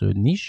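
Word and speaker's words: Niš: to Nich, so Nich, it's written N I S but it's pronounced Nich and not Nice like our beautiful southern city French.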